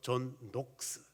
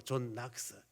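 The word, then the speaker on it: Knox: 그래서 영국 발음으로 존 녹스, 미국 발음으로 존 낙스. 그래서 어떤 사람들은 존 녹스 이렇게 기억하는 사람이 있고 어떤 사람 존 낙스 다 상관없습니다.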